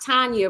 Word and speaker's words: Tanja: This is the Blueprint on Instagram and Tanja on Facebook, right? Yep, it's Tanja on Facebook. Tonja. It's really pronounced Tanya.